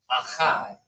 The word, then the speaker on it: Akkad: But that's how you should, that is the proper way of pronouncing it is Akkad.